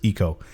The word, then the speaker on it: Ico: You've been playing Eco or Ico? Eco. I checked online and it's pronounced Eco.